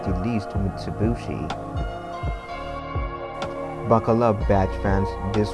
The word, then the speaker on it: Mitsubishi: Putting the two together via some quirks of Japanese pronunciation result in Mitsubishi, the three diamonds.